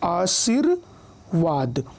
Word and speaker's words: आशीर्वाद: अब रेफ से संबंधित नियम देखिए, जिस वर्ण पर रेफ लगता है उच्चारण उसके पहले होता है। जैसे आशीर्वाद, अब यहाँ पर देखिए व पर रेफ लगा हुआ है, व पर रेफ की मात्रा लगी हुई है ये, तो लेकिन उच्चारण क्या हुआ, आशीर्वाद ना।